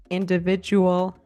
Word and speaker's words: individual: D does sound like j sometimes when it occurs in the middle of a word in a non-stressed syllable. For example, in the words graduate, individual, educate, it makes the j sound.